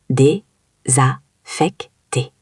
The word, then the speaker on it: désaffecté: Désaffecté, c'est un mot un peu difficile à prononcer. Oui, répète après moi. Dé-za-fec-té.